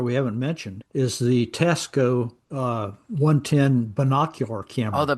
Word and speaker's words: Tasco: Well, Tasco.